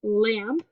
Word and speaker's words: lamb: This word, the B is silent. This word is lamb.